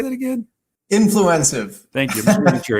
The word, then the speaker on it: Influencive: Influencive.